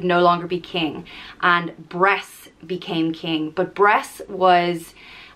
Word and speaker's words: Bres: that we'll talk about bress the tyrant king it's spelt b-r-e-s but it's pronounced breast like chess and he was the